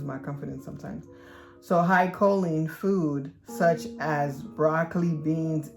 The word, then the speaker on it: choline: or reduce the intake of high co um choline i say it right but i don't know why i lose my confidence sometimes so high choline food such as broccoli beans eggs legume kidney